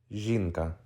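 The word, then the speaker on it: жінка: by letter Z e n Ka ah Inka jinka this is a very easy yet very important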